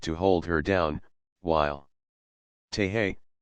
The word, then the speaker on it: Tehe: I climbed out on the outrigger and supplied the weight to hold her down, while Tehe, pronounced Tehayi, supplied the nerve.